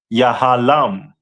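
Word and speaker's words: יהלום: And their stone is a diamond, which is pronounced in the Hebrew as Yahalam.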